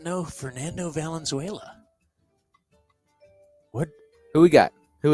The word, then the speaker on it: Valenzuela: still be pitching uh let me go with Venezuela crisp Tanaka that's not how you say it